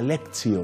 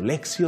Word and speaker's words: lectio: lugares se está trabajando la lectio pero se pronuncia lexio lexio divina y a través de la lexio divina hay muchos que